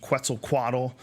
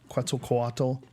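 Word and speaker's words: Quetzalcoatl: one called uh 2012 the return of quel quad is that how did I say it right good enough good enough close enough quel quatt and um just an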